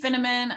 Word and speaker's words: Finneman: So I'm Finneman. I always say it rhymes with cinnamon, but I'm a spice girl, Midwest Minnesotan from a family of 5, but a larger family.